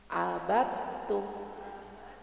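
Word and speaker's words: عَبَدْتُمْ: Abidum abattum. Jadi dalnya enggak kedengaran suaranya, langsung masuk ke ta.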